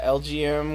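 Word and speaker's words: Elgyem: LGM, which as he said is pronounced to little green men. LGM.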